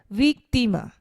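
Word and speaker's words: víctima: means pen and then weak thima weak thima the stress is placed on the E which means victim here again and then food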